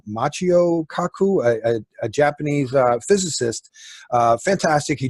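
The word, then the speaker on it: Michio Kaku: weeks because I forget that fellow's name it's pronounced his name Macchio Kaku a Japanese physicist fantastic he just gave a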